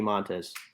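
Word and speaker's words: Montas: forgot about him i want frankie um frankie montes did i pronounce it right bronze yeah that's right i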